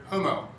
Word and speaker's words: homo: rules of grammar and utter the word homo without sounding the H in the first syllable, that is, to avoid African provincialisms.